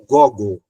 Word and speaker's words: Gogol: o autor Nicolai Gog Alguns falam Gogol mas a pronúncia correta é Gog né o capote tem